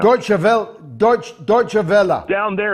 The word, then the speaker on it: Deutsche Welle: Deutsche Welle. Down there, Deutsche Welle. Down there, they call it Douche Welle.